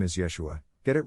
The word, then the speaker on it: Yeshua: don't care for yod jesus is actually pronounced yeshua i doubt he would